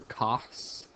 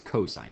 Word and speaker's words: cosine: that is called cosine don't say cause or cos it's cosine just say the word sound